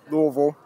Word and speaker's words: Louisville: How's it pronounced, Sean? Louisville.